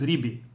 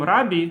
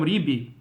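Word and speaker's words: רבי: the correct pronunciation and in all theic the pronunciation is ribi so I was thinking when I said shall shabbat shalom rabi I should have said Shalom shabbat shalom ribi according to the correct pronunciation of uh since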